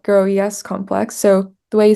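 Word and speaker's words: GroES: this this complex and basically the grow yel grow yes complex so the way you spell that is gr R and then capital e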